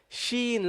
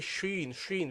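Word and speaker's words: شين: you got SE light Sheen light and we discussed that we that we don't pronounce the sheen heavily okay we don't say we don't say sh we say Sheen then we carried on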